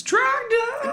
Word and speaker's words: Trogdor: said it wrong. It's Trogdor.